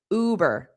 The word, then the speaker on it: Uber: Notice the pronunciation is that long oo. Uber.